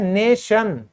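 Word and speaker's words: nation: से किया हुआ है, जहां भी आपको लास्ट में TION दिखेगा ना दोस्तों, आप उसको क्या बोलोगे, आप उसको कहोगे शन। क्या कहोगे, शन। कैसे, ध्यान से, राष्ट्र, राष्ट्र की इंग्लिश होती है नेशन, आप इसको बोलोगे ऐसे, ये है आपकी प्रोनाउंसिएशन।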